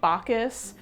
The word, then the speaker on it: Backhouse: One hoax that seriously cracks me up is a guy named Sir Edmund Bacas, whose name is spelled back house, but is pronounced Bacas, which honestly is more fitting for the deal this guy had going on.